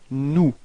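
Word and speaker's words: nous: new all right so keep in mind that final s is not pronounced all right so you get this new repeat new okay and then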